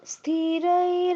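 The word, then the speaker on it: স্থিরৈঃ: আরেকবার বলুন স্থিরাই স্থিরাই টা যে বললেন এটা উঁচুতে বলতে হবে হ্যাঁ স্থিরাই এরকম উপর দিকে চলে যাবে আওয়াজটা বলুন আবার স্থির রাঙ্গাই আরেকটু সময় নিয়ে উচ্চারণ করতে হবে স্থিরাই এই যে ওই কার্ডটাকে আমি বেশিক্ষণ বললাম বলুন স্থিরাইঙ্গাই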